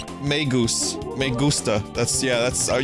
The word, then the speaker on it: Magus: So Maggus Magus meusta. That's Yeah, that's Are you want me to pronounce it like that? Sure. It's pronounced magus in Latin.